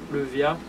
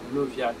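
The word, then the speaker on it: Leviah: C'est que je te demande, Levia, trop des indestructibles constructions.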